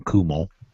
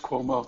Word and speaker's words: Cuomo: cuomo although i've heard some people call him kumo yeah it's cuomo that's where they pronounce it in new york believe me i